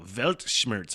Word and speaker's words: Weltschmerz: No, Weltschmerz. I'm looking at the pronunciation. Weltschmerz. Weltschmerz.